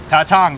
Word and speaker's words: Tatang: So yeah, come to this restaurant here in North Hollywood and pronounce it once again. Tatang. Tatang, that's the way you say it.